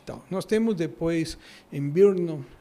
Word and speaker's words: Brno: Nós temos depois em Birnon, Birnon é brno, então é difícil pronunciar na República Checa, uma